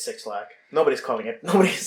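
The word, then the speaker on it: 6LACK: never heard it pronounced technically supposed to pronounce it black is this supposed to be like lowercase yeah i i figured that but i'm not sure how you pronounce it but it's it's six lack nobody's calling it nobody's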